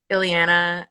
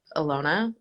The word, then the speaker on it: Ilona: what do they say iliana but the problem is is the capital i looks like an l so it looks like lelona instead of alona or i don't even